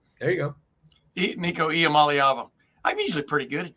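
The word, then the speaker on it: Iamaleava: imala okay I'm just going to let you pronounce it for me niik ialam malava there you go niik IAM malava I'm usually pretty good at that like I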